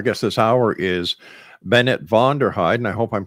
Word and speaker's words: Vonderheide: break actionation our guess this hour is Bennett vonderheid and I hope I'm pronouncing your family name right that's exactly right